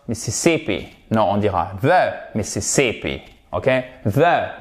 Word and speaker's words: Mississippi: Non, on dira the Mississippi. Ok? The Mississippi. Et vous faites bien attention. Mississippi. Ok? Mississippi. Mississippi. Non. Mississippi. Mississippi. Et oui, accent tonique ici.